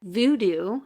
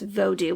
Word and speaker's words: Vodou: And so Haitian, when I was watching this video, he pronounced it as Vodou, which is Vodou instead of the voodoo that we're used to.